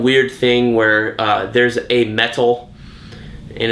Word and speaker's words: meta: But basically, the second Prelude issue established that this metal is in everybody in the DC universe who they call a meta.